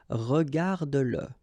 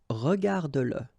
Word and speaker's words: regarde-le: the pronoun le, and if it comes after your verb, like in that case, then you will have to pronounce it. Okay, so regarde-le, regarde-le. All right, regarde-le.